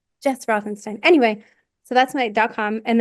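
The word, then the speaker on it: Routhenstein: Yeah, my website is my name, um, Jess SS Rothenstein. The U is silent.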